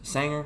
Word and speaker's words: Sanger: Sanger, I think it's pronounced.